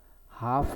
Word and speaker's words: half: silent letter කියලා කියන්නේ ශබ්දය ඇහෙන්නේ නැති අකුර. රවුම් කරන්න කියලා අපිට කියනවා. පළවෙනි වචනය half කියනකොට මෙන්න මේ මැද තියෙන L අකුර මැද තියෙන L අකුර තමයි ශබ්ද වෙන්නේ නැත්තේ.